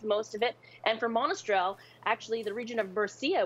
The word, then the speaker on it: Monastrell: Tell me if I'm screwing up the pronunciation. It's Garnacha and Monastrell.